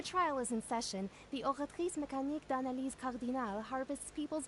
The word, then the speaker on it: Oratrice: So that's what I like how she's the only one that pronounces the French, like, way of saying it. created by the Archon to make judgments. Whereas everyone else is like, oratrice. And she goes, oratrice.